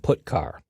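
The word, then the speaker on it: putchar: character io functions are get car and put car that's how I pronounce them get car fetches a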